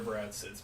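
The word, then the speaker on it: Bretz: to you know Senator Brad sits me with a Z yeah BRE it's as German as you can get with a single syllable I always lie when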